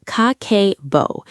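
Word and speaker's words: Kakeibo: It's called Kakebo, pronounced Kakebo, and it has been running Japanese households since 1904.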